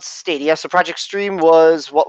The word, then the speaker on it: Stadia: I'm saying it right it's kind of like Stadium but it's stadia yes I did watch